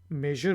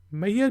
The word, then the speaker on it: measure: इसको हम मैयर भी प्रोनाउंस करते हैं और दोनों प्रोनाउंसिएशन यानी कि मेजर और मैयर बिल्कुल ठीक हैं। आप इनमें से कोई भी यूज़ कर सकते हैं।